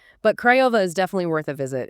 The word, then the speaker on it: Craiova: Craiova, pronounced Craiova.